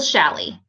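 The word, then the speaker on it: challis: have on is wool shally and shally is spelled CH a ll is so it's very gravy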